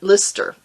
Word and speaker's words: Leicester: percent blue faced leicester lister i always say lyster because it has an e in it down here we would pronounce it leicester but but you all have told me it's lister so it's blue face